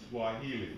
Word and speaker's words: Swahili: This is the way it's pronounced here. Swahili.